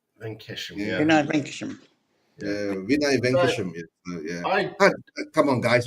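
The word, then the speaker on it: Vinay Venkatesham: Yeah, Vinay Venkesham. Venkesham. Yeah. Vinay Venkesham.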